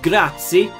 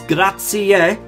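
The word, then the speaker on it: grazie: kind of taught me it is not grazi it's grati we pronounce every letter um and then I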